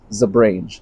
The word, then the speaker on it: Zebrange: guy known as the Zebrange, Zebrange, Zebrange. I've actually heard it pronounced all three of those ways. I'm going to call it the Zebrange.